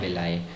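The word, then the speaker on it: villi: जिसको विलाई बोलते हैं, जिसको प्रोनाउंस करते हैं विलाई।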